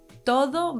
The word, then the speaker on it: todo: Let's say todo versus toro. The difference lies in the pronunciation of the D and the R sounds, the dental D in todo and the tap in toro.